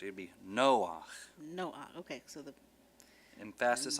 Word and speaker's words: Noach: It'd be Noach. Noach. Okay, so the Emphasis on the other syllable.